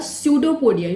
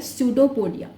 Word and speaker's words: pseudopodia: जैसे हम कहते हैं pseudopodia. Okay, P is silent in this. Okay, pseudopodia false legs उसके निकल